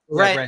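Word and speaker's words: Rennes: Ren. Aren't they Ren? Ren. Oh. You don't pronounce the S, do you?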